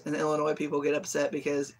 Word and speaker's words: Illinois: like when people say Illinois and Illinois people get upset because the S is silent I always say I'm